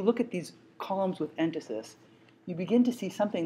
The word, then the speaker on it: entasis: You'll see the word written, but I'll spell it for you right now. It's called entasis, E-N-T-A-S-I-S.